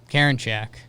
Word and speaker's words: Karinchak: Karinchak? Karinchak.